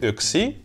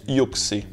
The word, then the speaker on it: yksi: les finois utilisent alors le chibolette XI signifiant 1 que les Russes proncent yxé toute personne ayant une